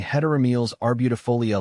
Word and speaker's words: Heteromeles arbutifolia: like T with a little practice you'll be pronouncing hetam are beautif foia like a pro beyond the beauty environmental benefits